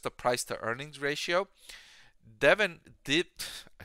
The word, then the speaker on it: Devon: Zim versus investing in Devon stock Devin stock I should say as one of my viewers pointed out it's pronounced Devin and not Devon thank you if you're